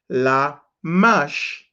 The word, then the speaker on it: Lamech: There is something else that helps you to pronounce them. Then Genesis 5:26 is Lamach. Lamash. Lamash is Lamech.